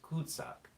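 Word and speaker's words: cul-de-sac: act cool the second French is pronounced could suck and it it means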